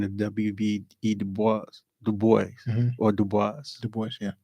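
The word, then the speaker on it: Du Bois: Dubo or Dubois. Dubo. Yeah. They say Dubois is not how he pronounced it.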